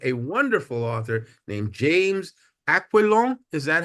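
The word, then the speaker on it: Aquilone: week, we interviewed a wonderful author named James Aquilon. Is that how his name is pronounced? Aquilon, yeah. Aquilon.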